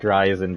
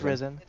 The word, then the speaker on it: Risen: kids like like risen is it reason i've been pronouncing their name like verizon but yeah it's risen okay well remember well